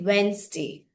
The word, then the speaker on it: Wednesday: And that is why from now onwards, don't call it Wednesday, you should say Wednesday, right?